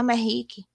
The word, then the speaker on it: Merrick: falava Merrick, e aí no meio do livro, a personagem explica que se fala Merrick.